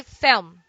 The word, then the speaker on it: film: combination L plus M one solution is to pronounce the L as W film thumb palm palm but some prefer adding a vowel in this word so we say film film fourth fourth don't